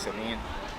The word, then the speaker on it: Sevin: Correct way to say my name is Sevin.